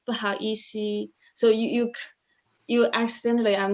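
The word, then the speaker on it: 不好意思: But the correct answer is correct pronunciation is 不好意思.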